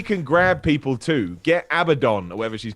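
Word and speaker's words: Abadon: say her name too i always want to say abaddon but it's abaddon i don't know what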